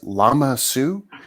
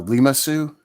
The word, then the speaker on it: Lama Su: yeah so I did double check it is llama Sue uh I I always want to mispronounce it and say uh limasu that's not right llama it is nice it's